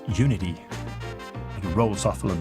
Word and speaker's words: Unity: I already struggled saying that because it could be Unity, that's how I say it. and my wife's British, so it's like Unity. You actually pronounce the T. Or sometimes when I say it with it's Unity, it rolls off a little bit nicer.